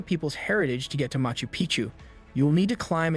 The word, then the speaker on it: Machu Picchu: For Machu Picchu, Peru, when a place rhymes with picture, you can almost bet it will always give breathtaking images every time.